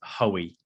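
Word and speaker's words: Hoy: So the exact way is Hoey.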